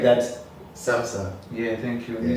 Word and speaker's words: Samsung: Samsung. No, Yeah. no, don't say it like that. Samsung.